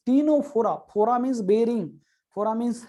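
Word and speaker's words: Ctenophora: Number 3 पे आते हैं दोस्तों, टीनोफोरा, सी is silent here. ये टीनोफोरा, सी is silent here.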